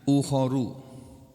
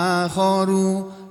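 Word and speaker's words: أُخَرُ: Ini kata-kata kalimat akharu, ada yang membacanya ukhoru. Ya, ada yang membaca akhoru, ada yang membaca ukhoru. Dua-duanya boleh. Ada riwayatnya semuanya ya. Tapi yang masyhur, yang terkenal, wa akhoru, dan yang lainnya, min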